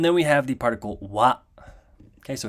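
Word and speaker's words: は: Okay, and then we have the particle wa. Okay, so it looks like a ha, but as you can see, it's pronounced wa.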